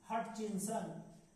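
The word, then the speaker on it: Hutchinson: क्या लिखा हुआ है, आरसी हटचिंसन। थोड़ा सा उच्चारण ऐसे करेंगे, HUT से हट होगा और उसके बाद क्या है, देखिए CHINSON, यही आपको आंसर देना है।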